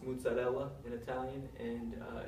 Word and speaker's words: mozzarella: big um the cheese that you call a mozzarella cheese it's actually pronounced mozzarella in Italian and uh it's normally made the